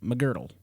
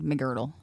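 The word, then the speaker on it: Megrdle: And I was trying to figure out how to pronounce that, but it's McGirdle. There's no I in McGirdle.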